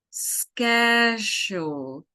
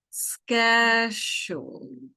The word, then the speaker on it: schedule: The second verb that we have is schedule. So, the pronunciation here is like skeh jool. Schedule.